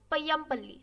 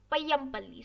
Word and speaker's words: Payampalli: Next is Payampalli. So for pronouncing this, I'll tell you, first pronounce Pai, then Yam, then Palli. So we can spell Payampalli.